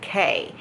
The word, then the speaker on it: Quay: They're called K glasses, but they're spelled Quay. But you pronounce it K.